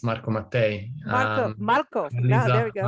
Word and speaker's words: Marco Mattei: doing great and you you did it perfect it's marco mate welcome marco there we